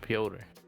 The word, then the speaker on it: Piotr: That's how they pronounce it, Piotr.